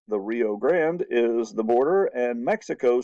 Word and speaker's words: Rio Grande: United States says the Rio Grande River or the Rio Grande if you really pronounce Spanish right is the boundary well